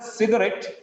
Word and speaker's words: cigarette: In the word cigarette, cig-a-ret, it is trisyllabic.